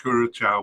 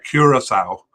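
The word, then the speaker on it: Curaçao: Curacao at home to, well, I keep saying Curacao, but I'm trying to train myself to pronounce it properly. Curacao.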